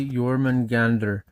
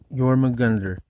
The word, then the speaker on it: Jörmungandr: Anyway, chat GPT says, "Ah, yes, you're referring to Jormagander, pronounced roughly Yor Manander." Yor Mander, depending on the old Norse dialect.